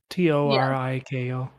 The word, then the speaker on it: Toriko: know it's also yeah it's also spelled toriko t-o-r-i-k-o yeah cause toriko is like the proper japanese like pronunciation and it's also like a play on